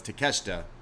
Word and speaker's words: Takeshita: And then Moxley, this is an eliminator match against, I always forget how to pronounce his first name, because I know it's Takeshita, but Konosuke?